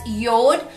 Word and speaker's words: Jord: your dispelled as Jay o Rd but it's pronounced as Yoda Yoda Swedish word which means earth land and